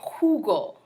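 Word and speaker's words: jugo: is okay de Hugo the letter J sounds kind of like the H most of the time in Spanish so kind of like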